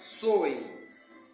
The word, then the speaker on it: Samhain: O Samhain pronuncia Soe, passou a ser conhecido como Ano das Bruxas.